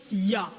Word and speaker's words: Yah: yhw et la translér les deux premières parties y h se prononce ya maintenant ce qui se